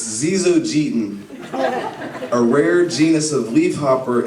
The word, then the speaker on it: Zyzzogeton: It's Zizogeten, a rare genus of leafhopper endemic to South America. And the way you spell it is Zyzzogeton.